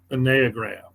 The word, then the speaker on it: Enneagram: The exact pronunciation, and I guess I'm a mild snob about this because I am Greek, is Enneagram. Enneagram is the Greek Enneagram.